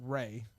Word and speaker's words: Ralph: It's Ralph Fiennes. Ray, or that's Ray. His name is pronounced Ray.